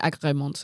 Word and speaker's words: agrément: I said agrément. I'm not trying to be funny. It's spelled agré, like A-G-R-E with an accent, and then M-E-N-T.